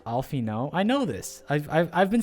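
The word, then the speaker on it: Alphinaud: It's pronounced Alfino.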